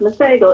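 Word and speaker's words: Masego: I'm not sure if his name is Spanish or not, but I think his name is pronounced Mago. M A S E G O.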